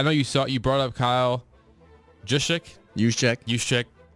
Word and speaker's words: Juszczyk: I know you brought up Kyle Juszczyk. It's every ounce of my body wanted to pronounce the J.